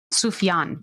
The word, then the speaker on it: Sufjan: sake of pronoun uh so you can know the pronunciation it's sufjan sufian thank you yes that